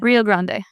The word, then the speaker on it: Rio Grande: Rio Grande.